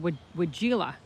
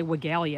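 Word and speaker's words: weigela: It's called wigella. I think that's the right way to say it. I used to say wigella, and that's wrong. You're not supposed to say the I at the end.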